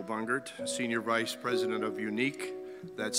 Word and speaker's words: Uneek: name is michael bungert senior vice president of unique that's spelled u-n-e-e-k salon number 311 of los angeles